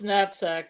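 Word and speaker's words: knapsack: the comment was about oh napsack she chose napsack as her word and that has a silent k okay why said what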